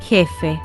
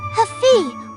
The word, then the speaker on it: jefe: most English speakers pronounce it like Haman, Huger, Hafi, with a soft H like in hello. That is completely wrong. The Spanish J is a strong friction sound created deep in your throat.